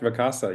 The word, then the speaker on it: Vacasa: He's with Vacasa. Is that how you pronounce that, Daned? That's correct, Vacasa, yes.